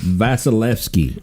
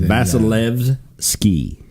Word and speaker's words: Vasilevsky: It's Vasilevsky. It's like Vaseline. Vasilevsky. Vasilevsky. Mm-hmm.